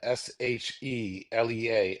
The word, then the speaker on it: Shalea: My lovely wife, Shalea, Shelea, accent on the second E.